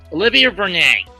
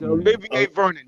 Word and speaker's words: Olivier Vernon: Olivia Vernon, or however it's pronounced. It's Olivier Vernon.